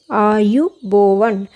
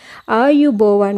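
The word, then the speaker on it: ආයුබෝවන්: आपने देखा है ना आयु बोवन इसे कैसे उच्चारण करते हैं आयु बोवन आयु बोवन मैंने इंग्लिश में भी लिखा और हिंदी में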